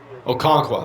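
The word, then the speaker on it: Okonkwo: Okonqua. That's how you pronounce his name. Feels weird. Okangwa.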